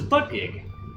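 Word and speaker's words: Buttigieg: But then again, I don't know anything about him, so I think it's spelled like Buttgieg, but it's butt gig.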